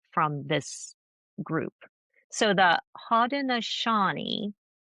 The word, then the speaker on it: Haudenosaunee: And I had mentioned the Haudenosaunee. Haudenosaunee. I had to Google how to pronounce it.